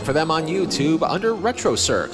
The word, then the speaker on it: Retrocirq: Look for them on YouTube under Retrocirq, spelt with a Q at the end. Retrocirq, where the Q is not quiet.